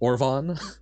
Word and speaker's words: Orbhan: Orbhan is pronounced like Siobhan. Oh, so Orvan.